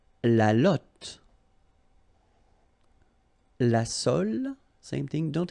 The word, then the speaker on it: lotte: And then la lotte, final E not pronounced, lotte, lotte.